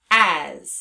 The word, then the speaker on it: as: That's why we pronounce the word as with the z at the end. Now let's practice spelling it on our arm. Stick your arm out, please. A-S, as.